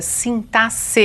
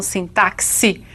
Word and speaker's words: sintaxe: parte da sintaxe e é assim mesmo que se pronuncia sintasse e não sintaxe como alguns querem não é então a